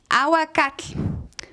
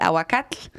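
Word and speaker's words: ahuacatl: so you hear already there is a lot of endings and TL right and the TL is a little bit hard to pronounce because you kind of blow the air out of well yeah exactly so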